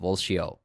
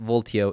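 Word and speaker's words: Valtio: new react State Library called walshio yep it's pronounced volcio but voltio is fine as well you're gonna see really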